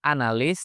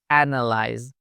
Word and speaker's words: analyze: Jadi bukan analis tapi analyze.